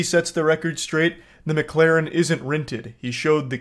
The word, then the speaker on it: McLaren: It's not McLaren, it's McLaren. Okay, so that's how we know this guy doesn't really have a lot of status.